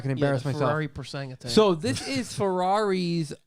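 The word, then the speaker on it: Purosangue: I believe it's Persang. Yeah, I believe it is as well, but I'm not gonna embarrass myself. Ferrari Persang attack.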